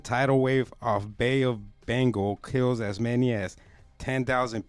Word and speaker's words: Bengal: Se dice Bengal. How do you say it? South Asia. How do you say it in English? Yeah, it's Bengal, like a Bengal. Like a Bengal tiger.